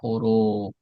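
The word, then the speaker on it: حروف: Jadi harfu kalau dibaca huruf itu harus ada wau di sini. Karena huruf dalam bahasa Arab itu adalah jamak dari harfu. Kalau enggak ada wunnya maka dibaca harfu. Kalau ada wunnya setelah ro dibaca huruf.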